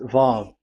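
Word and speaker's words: וו: So the word, the shape Vav is really pronounced V, like Vogue. That is it, pronunciation. So here in this side, it's pronunciation. This is pronunciation. So according to the old Hebrew word today, those who the owner of the words, I mean, so it's a V. So don't change it into W, and you will say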